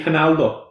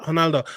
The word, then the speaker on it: Ronaldo: No, it's a H instead of an R. It's pronounced with a H.